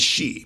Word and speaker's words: Xi: president biden has it his last name is she president xi like s-h-e-e but a large number